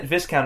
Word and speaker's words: viscount: No, Viscount is how you say it, but I'm saying like